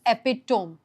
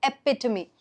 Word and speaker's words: epitome: Okay a lot of people while reading this will read this as epitom epitome eptoome when the correct pronunciation is epitome.